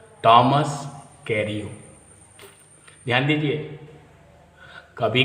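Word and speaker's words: Carew: कैरियो को उच्चारण भी ध्यान से समझ लीजिए, जैसे FEW हम लोग फ्यू पढ़ते हैं, JEW जीव पढ़ते हैं, MEW म्यू पढ़ते हैं, DW ड्यू पढ़ते हैं, वैसे CA से के पढ़ेंगे और R से रिव,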